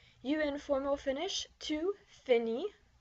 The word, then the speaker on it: finis: So I finish is je finis. You informal finish, tu finis. Notice that the S is not pronounced.